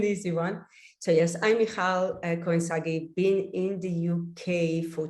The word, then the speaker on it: Michal Cohen-Sagi: thank you Ed and wow thank you for pronouncing my name so beautifully that's not an easy one so yes I'm Michael koinsagi being in the UK for 20 years now